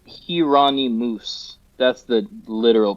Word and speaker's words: Jheronimus: Well, so the name is pronounced Hirani Moose. That's the literal pronunciation of it. But to have people say that is doesn't work. So Geronomus is kind of how I say it.